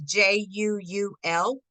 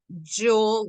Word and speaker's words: Juul: October 15th, Juul Labs, believe that's how you say it, it's Juul Labs, is laying off one person at 947 Illinois Street, Unit 108 in San Francisco.